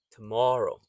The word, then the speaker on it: tomorrow: So again, the first O is unstressed. So it'sw. So you can actually say it as an slight e, a soft e, although the correct spelling is with an o tomorrow. Tomorrow, but soft tomorrow. So when you say it quickly, you might not be able to distinguish between the toro. But if you listen carefully, you can hear it's a t, not a to.